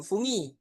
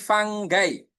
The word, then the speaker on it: fungi: Nah, untuk jamaknya apa itu? Bukan fungi ya, tapi fanggai. Jadinya bukan fungi, tapi fanggai teman-teman.